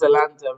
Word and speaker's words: Zalando: Is it Zalando? Is that how you say it? It's Zalando, and they are multi-billion.